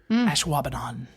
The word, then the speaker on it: Ashwaubenon: Ashwaubenon is spelled ASHWABENON. Ashwaubenon.